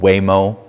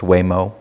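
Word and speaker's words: Huémoz: Switzerland in a place called it it's not pronounced how it's said it's called weo right h u m o z but it's pronounced weo and it was on the side of a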